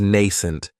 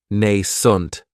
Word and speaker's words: nascent: Another great adjective is nascent, and this word has 2 syllables, and the stress is on that first syllable. It has the long A sound, Nascent. That second syllable has that schwa, nascent.